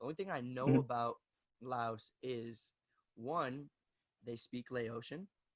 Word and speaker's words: Lao: way to say it like it's like so laos and we speak lao not laotian no that's